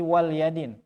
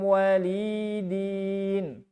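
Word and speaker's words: وَلِيَ دِينِ: Baik, kalau riwayat yang lain ini bacanya bukan waliyadin. Lakum dinukum walidin. Walidin. Jadi panjang li. Nah, ya, ente waliya. Tapi walidin. Din itu asalnya dini. Ayaya di akhirna. Din eta asalna ayaya. Dini. Di mahdzuf ya'na. Dipikeun huruf ya'na. Jadi walidin. Gitu.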